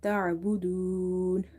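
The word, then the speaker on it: تَعْبُدُونَ: Now again in the word ta'budun, ayn is from the middle of the throat. When you try to pronounce it from the middle of the throat, try never to give it a pause. Never say ta'a. You have to read ta'budu, ta'budun.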